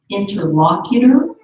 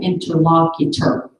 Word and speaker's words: interlocutor: i o arpeggio okay can you pronounce two ways interlocutor or interlocutor the seminar leader instructed